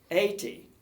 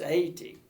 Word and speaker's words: Haiti: Schweitzer hospital is in 80 you're not supposed to pronounce the H I found out it's 80 right let's just go